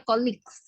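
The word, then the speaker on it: colleagues: Oh ini tadi bacanya koleagues itu bacanya colig Ya colix tahu enggak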